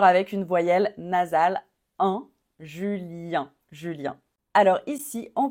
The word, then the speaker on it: Julien: on finit encore avec une voyelle nasale un Julien Julien alors alors ici on prononce Yve Yve on prononce pas le S